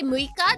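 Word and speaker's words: 六日: Like if you say Muika, that is the 6th day of the month. Muika. So it's not old, it's just another pronunciation.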